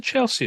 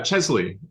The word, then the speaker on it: Chesley: fantasy art kind of um award what's the Chelsea award so uh Chesley um oh Chesley sorry yeah which is named